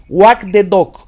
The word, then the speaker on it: Wag the Dog: no es muy buena, entonces voy a deletrear W-A-G de dog, el perro, la segunda parte, de dog, T-H-E, dog, D-O-G. Wag the Dog.